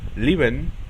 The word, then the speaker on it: leben: Pero si en una palabra se divide en 2 sílabas y cada una de estas tiene una E, normalmente la primera E se pronuncia como I. Por ejemplo, leben, que significa vivir, o gehen, que significa ir.